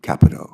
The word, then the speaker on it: Capito: Thank you, Senator Carper and Ranking Member Capito and the committee for having me here to testify today. Just for the record, we pronounce her name Capito. Capito.